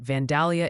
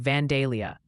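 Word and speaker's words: Vandalia: Oh, and Ryan, the chat's pronunciation committee has convened and they wanted me to gently inform you that Vanalia, Illinois apparently sounds more like Vanelia.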